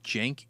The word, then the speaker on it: Cenk: You're going to keep the name Jenk Huger." And and the Jenk is spelled with a C in the beginning.